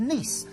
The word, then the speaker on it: Nice: you then get to nice it is pronounced ni although it is very nice and this is the